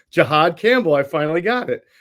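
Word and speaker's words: Jihaad: We spoke with Campbell, the first-round pick, whose name is just flown out of my – Jahad Campbell. I pronounced it correctly. Jahad Campbell.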